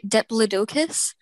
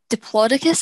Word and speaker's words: Diplodocus: So in the UK, we say Diplodocus, but in America, you say Diplodocus, is it?